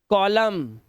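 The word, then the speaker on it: column: ought मन नहीं पढ़ना ऑट मन इसका एन साइलेंट हो जाएगा autumn कॉलम dam hymn N को साइलेंट कर दिया इसने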